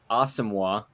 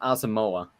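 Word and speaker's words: Asamoah: contrary to popular belief his name is officially pronounced awesome and not asamoa he did come out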